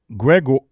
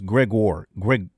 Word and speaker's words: Gregor: And Gregor, they pronounce this Gregor. Gregor. He's gone an inning, and he has struck out 1 to this point.